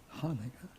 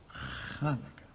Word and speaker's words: Hanukkah: Now please note my pronunciation of the word. Not Hanukkah, not Chanukah, it's Hanukkah.